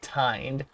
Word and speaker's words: tined: Tinned is pronounced with a long I, tined.